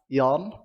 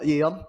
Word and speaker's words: Yeon: trying to flame, but my ADC's name is pronounced Yon, not Yeon. So Oh, just don't to worry, let we you guys said know. we said yawn.